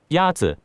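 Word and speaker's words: 鸭子: Yazi. Is pronounced with a first tone.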